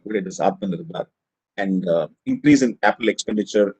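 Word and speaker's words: आत्मनिर्भर: Atmanirbhar is sometimes pronounced as Atmanirbhar. Not the right word, it is Atmanirbhar.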